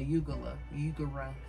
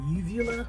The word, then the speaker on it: uvula: I think it's called a ugula, some shit like that. Tell me if I'm right. They don't even sound right. Hey Siri. A uvula?